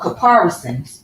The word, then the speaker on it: caparisons: Oh, caparisons.